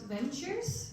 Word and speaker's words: VNTRS: And I will talk a bit about ventures, which is how you pronounce it, our name.